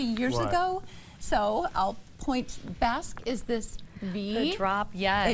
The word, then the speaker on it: Basque: with a drop waist or also called a Basque W. Correct. Am I pronouncing that correctly? You are. It is Basque.